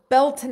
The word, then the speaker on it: Beltane: we can integrate it so getting back to belane or belon as its career correctly pronounced I learned when I was in Ireland